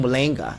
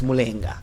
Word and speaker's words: Mulenga: If you're still saying Mulenga, stop it. It's Mulenga.